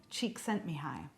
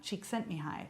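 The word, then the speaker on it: Csikszentmihalyi: summarizing the book flow by mihai cheek sent me high and i'm going to say that again mihai cheek sent me high because i would say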